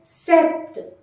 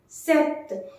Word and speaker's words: sept: Sept. Sept. Here T is also to be focused in pronouncing this number when you are using this number individually.